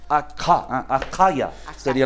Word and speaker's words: Akaya: Akaya. Akaya. Akaya. Akaya sería la pronunciación, porque la letra es Kaf.